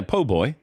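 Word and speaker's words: po' boy: man uh friendship always was excellent uh a PoBoy was nice too did I say it right yeah PoBoy oh boy um when is the first time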